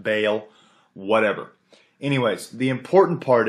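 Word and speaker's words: Baal: Bale b a a I say ball apparently it's pronounced Bale whatever anyways the important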